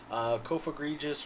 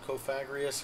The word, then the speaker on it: Cofagrigus: On it, we have Excadrill, Mega Venusaur, Tyranitar, Salamence, Vaporeon, Heracross, Cofagrigus or Cofagrius, however you want to pronounce that, Braviary, Delphox, Ditto, Raichu, and Stoutland.